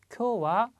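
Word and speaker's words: 今日: 그리고 쿄는 뭐 나왔었죠. 쿄 좀 깁니다. 발음 주의해 주시고요.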